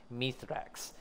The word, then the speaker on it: Mithrax: as we call uh we call them mythrex apparently chat it's apparently pronounced mythrex there is desperation and